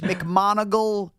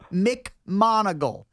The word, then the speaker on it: McMonagle: Can you let him know it's McMonagle? McMonagle.